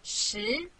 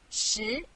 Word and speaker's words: 十: This is its syllable 十. Repeat after me 十.